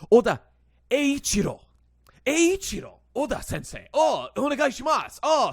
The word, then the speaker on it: Eiichiro: As people called me out for my video, I was saying Aichiro because I've still been pronouncing it like the American troglodyte that I am, and, read this as like I, as you would kind of in English or whatever.